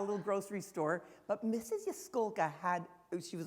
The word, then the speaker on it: Jaskolka: Yaskolka.